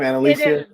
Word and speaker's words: Annalisa: i like and alicia is that the right pronunciation of your name annalisa okay good because no one gets it right the first time so well